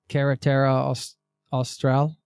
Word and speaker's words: Carretera Austral: Did you hitchhike the Carretera Austral? Am I pronouncing that correctly?